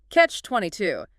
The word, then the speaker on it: catch-22: Next, catch-22. CATCH-22. Stress. Stress on the end.